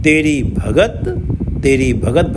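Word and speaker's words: ਭਗਤਿ: भंडार अनगिनत हैं तेरी भगत तेरी भगत भगत से अर्थ है यहां भगत त पे छोटी ई की मात्रा है और आखिरी अक्षर पर छोटी ई की मात्रा का उच्चारण नहीं होता है श्री गुरु ग्रंथ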